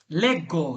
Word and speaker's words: leggo: আঞ্জুমান ভাই এটা কি হবে উচ্চারণটা? লেগ্গো।